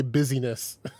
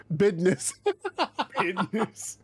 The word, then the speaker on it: business: many of these uh do you say business i think they're going to say don't say busyness yeah business get up out of my